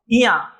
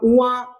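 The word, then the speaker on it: ञ: क्या बोलते हैं इसको, इया। आप उआ कुआ करके इस प्रकार से इस ध्वनि को उच्चारित करते होंगे, लेकिन इसका स्पष्ट उच्चारण है इया, है ना।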